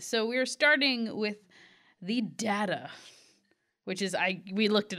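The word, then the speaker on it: Dagda: So we're starting with the Dada, which is, we looked it up. We did. Yes, that's how you pronounce it.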